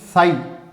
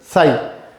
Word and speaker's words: psi: ये एक्चुअली में एक इंग्लिश में इसे बोलते हैं साई, प्रोनाउंसिएशन साई। ओके, अब मैक्स बोर्न ने,